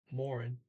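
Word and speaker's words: morgen: still more and because a lot of people skip the middle they don't pronounce the g or the e um you see here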